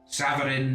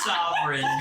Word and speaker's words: Savarin: I was able to communicate discreetly with Savarin, and she seems. Was that noticeable? Me looking at my notes. You still said it wrong. Sovereign.